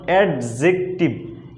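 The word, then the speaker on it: adjective: দেখুন, parts of speech মূলত 8 প্রকার: noun, pronoun, অ্যাডজেক্টিভ, নট অ্যাডজেক্টিভ। এখানে ডিটা উচ্চারণ হবে না, শুধু সাইলেন্ট থাকবে।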